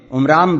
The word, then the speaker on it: عمران: ان دونوں کتابوں میں عمرام بتایا گیا ہے۔ قرآن اسی کا تلفظ عمران کرتا ہے۔ موسیٰ علیہ السلام کی